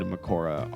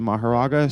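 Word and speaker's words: Mahoraga: So both Maharaga and Makora are correct, technically. Yes, it just depends what you're going However, with. So I've heard that Maharaga is more correct, and I pronounce it Maharaga, so I'm going to continue saying Maharaga.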